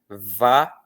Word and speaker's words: várias: Veja como o i mal é vogal. Ele é muito rápido. Ele é pronunciado com com muita rapidez. Ele quase não é pronunciado, se você parar bem para pensar. Então essa sílaba ras, ela só tem uma vogal.